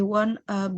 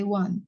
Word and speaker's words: won't: Oh, it was it is her mistake, but I won't blame her. I won't. I won't blame Won't. her. Won't. Won't. I will not kan? Ya, won't. Bacanya won't, bukan I want ya.